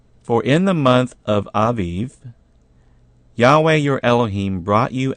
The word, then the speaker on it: Aviv: In chapter 16, very first verse, it says, "Observe the month of Abib," actually pronounced Aviv, "and keep the Passover unto Yahweh your Elohim. For in the month of Aviv, Yahweh your Elohim brought you out of Egypt by night."